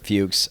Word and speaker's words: Fuchs: time yeah it is it is fuches is also Fox and so fuches is just the Jewish German pronunciation of fox okay yes interesting so